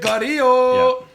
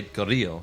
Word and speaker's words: Carrillo: Como se dice? Carillo. Well, you would say Carrillo, yeah.